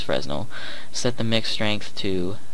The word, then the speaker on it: Fresnel: Or Fresnel. It's pronounced Fresnel, but people will know it as Fresnel.